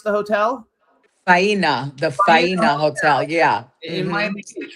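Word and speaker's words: Faena Hotel: How do you pronounce the hotel? Faina, the Faina Hotel.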